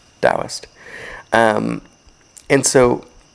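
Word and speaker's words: Taoist: If that's interesting to you, look up Dowist philosophy, spelled with a t ao. T a o i s t. Dowist.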